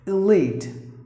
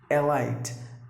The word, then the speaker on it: elite: is always silent so here it's a long sound you have to drag it like e elite that's the way you have to pronounce the word elite not a light elite meaning high Porsche